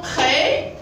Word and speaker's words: prêts: Voilà, ne prononce pas la lettre T. Ils sont prêts, d'accord, pour ce T.